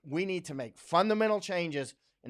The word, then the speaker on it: Chang: China listen to Gordon Chong listen to Gordon chest I'm sorry I say Chong sometimes because I'm in Thailand in China is how you pronounce it in Thai language Chong means elephant actually